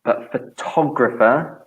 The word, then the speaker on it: photographer: we were thinking because the stress changes in this one so we have photograph days photograph photograph stress on the first syllable photograph and photographer photographer and moves to the second so the person is a photographer and the thing is